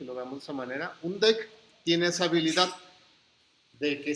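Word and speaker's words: deque: colección vamos a utilizar un d así es como se pronuncian lo que viene y si no damos esa manera un deck tiene esa habilidad de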